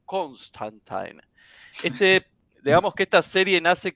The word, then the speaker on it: Constantine: Su nombre es John Constantine, según la pronunciación también del mismo Alan Moore, que fue su verdadero creador, era John Constantine.